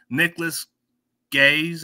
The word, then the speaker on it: Nicholas Gaes: my special guest from South Dakota defensive lineman Nicholas gays I don't know how you pronounce it did I pronounce it right you